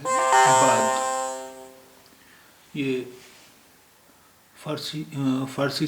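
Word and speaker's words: بعد: बे एन दाल है इसका सही उच्चारण तो बाद है बाद ये आ की आवाज यहां पर जो है वो गटल है यानी जब हम गरारा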